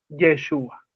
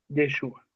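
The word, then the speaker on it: ישוע: ¿Sabían ustedes en hebreo, otro riqueza literaria, la palabra Josué en hebreo es la misma que se pronuncia para Jesús? Yeshua. Yeshua.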